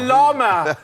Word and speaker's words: llama: a Spanish word right when there's a Double L it's pronounced Y and people are getting into getting into C yeah jalap Halal no that's a j that's another example a llama it's not a llama